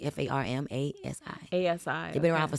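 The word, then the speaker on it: Farmasi: farm, F-A-R-M, Like with the F instead of a A-S-I, PH. Okay. pharmacy, yeah, pharmacy, F-A-R-M-A-S-I.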